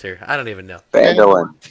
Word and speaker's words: Phandalin: Mandolin. I don't even know. Somebody help me out with the names here. I don't even know. Phandalin. It's just like it's Phandalin. spelled. Is It's just like it's spelled.